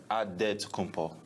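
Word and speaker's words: Antetokounmpo: helps set the record straight of how you pronounce it in a good way you got a say with a D so it's odd dead to compo but in the Greek way you say with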